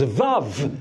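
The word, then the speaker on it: וו: Mais quand tu prononces Vav, tu entends deux V.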